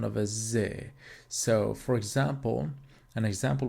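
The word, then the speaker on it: Sie: we mix these two together we're gonna get Z so S Plus IE it's going to be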